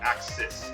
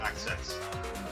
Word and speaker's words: axis: I'm not going to pronounce correct axis ACC not access the idea is you